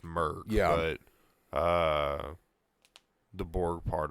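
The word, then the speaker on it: Mörk: Yeah, I mean, whatever that, which I read it in the book that it's pronounced Merc. The first part is Merc.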